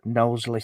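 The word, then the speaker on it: Knowsley: safari park over and it's called nossle safari park if you want to um Google that spelled with a K and you can drive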